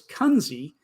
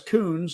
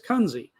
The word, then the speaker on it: Kunze: So Chris told us last week that we say his name incorrectly. It's Kunze. When I thought it was Coons, and Ray thought it was Kunze or Kunze, but it's Kunze.